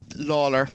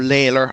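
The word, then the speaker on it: Lalor: Lawler, or Layler, I think is the way to pronounce it, Layler in the Arkle.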